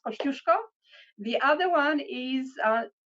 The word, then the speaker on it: Kosciuszko: that we we're proud of one is Mount Kosciuszko which we always always always correct people on it's pronounced Kosciuszko the other one is says lucky rangers and